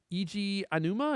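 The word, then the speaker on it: Eiji Aonuma: Eiji Anuma, is that how you say his name? Mm-hmm. Yep.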